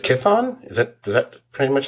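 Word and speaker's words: Chthon: I think it's I think it's just Kithon.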